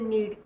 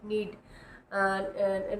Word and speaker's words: knead: आटा गूंदने को बोलते हैं नीड, KNEAD, नीड। के यहाँ पे साइलेंट है, तो नीड होता है आटे को गूंदना।